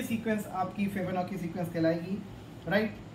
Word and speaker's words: Fibonacci: वो ये सीक्वेंस है फिबोनाकी प्रोनाउंसिएशन थोड़ा देख लें आप, फिबोनाची, FIBONACCI, फिबोनाची सीक्वेंस।